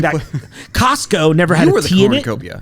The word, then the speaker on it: Costco: It was always Costco. You just don't pronounce the T and that's why your brain thought it that way.